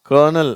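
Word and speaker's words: colonel: வேர்தி certain கர்னல் சரியா இந்த வார்த்தையில ஆறே இல்ல இருந்தாலும் அந்த உச்சரிப்பு இது கலோனல் அப்படின்னு எல்லாம் படிக்கிறாங்க அது தப்பு இது கர்னல் அதுதான் கரெக்ட் சரியா சொல்லுங்க கர்னல் கன்வெர்ட் இதுல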